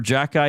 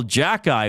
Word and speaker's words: Xhekaj: Did you see that Arbor Jackeye hit on Tim Stützle for the Ottawa Senators?